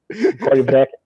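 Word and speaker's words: Corryvreckan: Korivrekken. Okay. Yeah, you got to roll the R.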